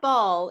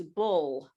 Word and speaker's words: bull: product it is not it's not ball it's bull yeah maybe a bow